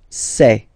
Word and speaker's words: ses: me me okay so logical same pronunciation here say all right so me say okay and then for the